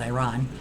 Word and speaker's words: Iran: I think Iran is, or Iran, sorry, the right way to say it is Iran, is going to be an interesting location.